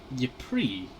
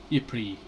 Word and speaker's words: Ypres: city in Flanders, Belgium, that being one of Ypres. I'm pretty sure it's called the Cloth Church, or the Cloth Cathedral, not sure. But it's one of the main parts of Ypres, or Ypres, as you know, it's normally supposed to be pronounced.